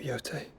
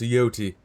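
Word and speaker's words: Jote: Thank you, Yote. I'm sorry. Your Grace, I shall pray for your safe Grace, return. it's pronounced Yoti.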